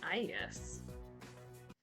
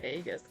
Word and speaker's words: Aegis: They pronounce it Aegis. Aegis. I've heard everyone else call her Aegis. I guess it's Aegis, technically. I'm Aegis.